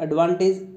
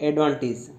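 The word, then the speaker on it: advantage: एडवांटेज, हम किसी के बारे में बोलते हैं कि इसके क्या क्या एडवांटेज हैं, तो वो उसका सही उच्चारण होता है एडवांटेज, नॉट की एडवांटेज।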